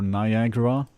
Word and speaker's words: Niagara: there because I am figuring out Niagara or Niagara as I have heard it pronounced but that it isn't written like um I've done these books